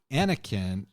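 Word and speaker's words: Aenikkaeng: it it's it's a-e-n-i-k-k-a-e-n-g-s so I think it's pronounced roughly the same way as the Spanish word Heineken is but it's a Korean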